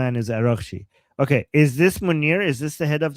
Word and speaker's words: Munir: Manure? Not manure, Munir.